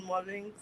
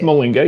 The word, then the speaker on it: Mollinga: I want to big up TB and Ron Mullings. Molinga. It's pronounced Molinga.